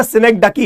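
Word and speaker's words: synecdoche: सिनेक्डकी, इसका जो प्रोनाउंसिएशन है वो है ना सिनेक्डकी है।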